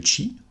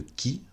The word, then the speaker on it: Qi: Le chi qui se prononce aussi le qui est un concept central